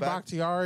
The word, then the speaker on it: Bakhtiari: David Bakhtiari. Bakhtiari. There you go. David Bakhtiari. Not like Bok Choi, but Bakhtiari.